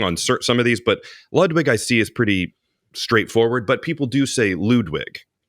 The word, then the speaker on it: Ludwig: caveat in there of we're talking about the American pronunciation of a lot of these. I do have a few we'll get to later, premier, but I'm talking about usually how it's pronounced in America, where if you're in Germany or something and you're going Ludwig, good on you.